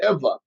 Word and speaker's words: Ewa: which is interesting because ever which would be V is actually spelled Ewa but they pronounce it Eva I don't know I